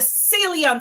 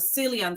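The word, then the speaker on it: Ceylon: And you have to get the salon cinnamon. It's spelled C E Y L O N. Cinnamon. I mean, you could use a cinnamon in your house, but the better one is the silon cinnamon.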